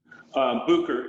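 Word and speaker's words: Bucher: Butcher or Booker Vineyard. What Pinot clones do you enjoy working with? Booker is the correct pronunciation, and I think it's kind of area specific.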